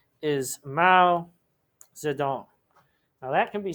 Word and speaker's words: Mao Zedong: And his name is Mao Zedong. Now that can be spelled and pronounced a bunch of different ways, so I'm just going to give you one.